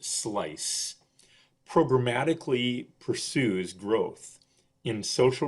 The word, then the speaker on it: SLICE: Service Learning and Community Engagement, pronounced SLICE, programmatically pursues growth in